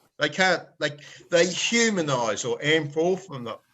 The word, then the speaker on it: anthropomorphize: They can't, they humanize or anthropomorphize. How do you say it again? Anthropomorphize, yeah. Anthropomorphize. Anthropomorphize. There's an extra syllable.